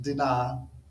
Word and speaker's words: Dinah: i looked it up is it dinah uh it from what i understand is pronounced deny deny goes to the city